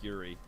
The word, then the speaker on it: Yuri: Yeah, Yuri. I have the the Spanish Y sound, so even saying Yuri for me is like super hard.